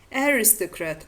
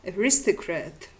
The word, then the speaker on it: aristocrat: diachronical recessive tendency or the stress on the second syllable under the influence of the strong rhythmical tendency of the present day. For example, hospitable or hospitable, distribute or distribute, aristocrat or aristocrat.